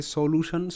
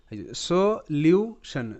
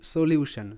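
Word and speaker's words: solution: ভালো করে শোনো সো সলিউশন সলিউশন সলিউশন কারণ এখানে এস ও সো এল ইউ লিউ সো লিউ টি আই ও এন সান সলিউশন তো এখানে কিন্তু টি স হিসেবে উচ্চারিত কারণ এখানে প্যাটার্ন কাজ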